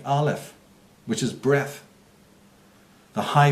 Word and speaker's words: Aleph: It's pronounced Aleph, and it meant breath.